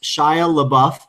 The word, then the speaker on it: Shia LaBeouf: but she has no interest dustin says it's pronounced shia labeouf so very well now we know now always